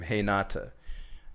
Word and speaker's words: Renata: renata renata now she's she's from brazil so they for some reason they pronounce their r's like their h's i haven't really figured out why but you would say her name hey nata and my name is